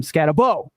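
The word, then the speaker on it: Skattebo: Can someone tell the guys that never watch college football that Scatterbo's name last name is pronounced Boo? Like when the monsters called the little girl in Monsters Inc.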